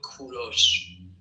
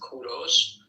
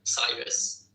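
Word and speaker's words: کوروش: But in Persian we call him Kuros. In Persian it is pronounced Kuros. But in English you call them call him Cyrus.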